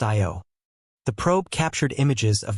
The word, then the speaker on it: Io: and its moons including IO pronounced IO the probe captured images